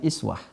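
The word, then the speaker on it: إسوة: Ini bisa juga dibaca dengan iswah.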